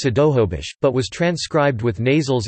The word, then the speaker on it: Snohomish: For example, Snohomish is currently pronounced Sidohobish, but was transcribed with nasals in the first English language records.